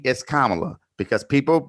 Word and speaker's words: Kamala: Her name is Kamala, because people mispronounce my name consistently, and it's annoying.